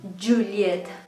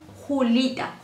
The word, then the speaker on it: Juliet: Mi nombre es Juliet. Juliet. Juliet. O si quieren me pueden llamar, pero no me digan Julita. Julita. No me llamo Julita, me llamo Juliet.